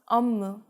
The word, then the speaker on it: 업무: The 비읍 becomes a 미음, so 업무 becomes 업무.